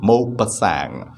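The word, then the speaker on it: Maupassant: the text the trip of alejola by gaidi mo pasang mopa sang is the pronunciation he is a french man and that is pronunciation of his name mo pasang okay on the morning of july eighth year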